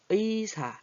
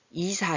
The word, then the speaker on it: 의사: 거예요 무늬가 예뻐요 이렇게 의자 의사 이럴 때는 앞에서 올 때는 발음이 의자가 정확하게 잘라야이자 이렇게 안 해요 이사 이렇게 안 해요 가끔가다